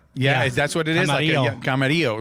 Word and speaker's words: Camarillo: Camarillo. Yes. Camarillo.